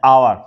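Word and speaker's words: hour: लेकिन जब हम पढ़ते हैं तो एच का उच्चारण नहीं करते हैं, आ का उच्चारण करते हैं, आवर।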